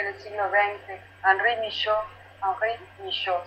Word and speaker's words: Michaux: el siglo XX, Henri Michaux, Henri Michaux, se escribe Michaux.